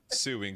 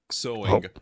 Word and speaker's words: sewing: I kept I kept saying suing suing suing and chat told me like are you saying this on purpose because it's not how you say it like you say sewing looks like that.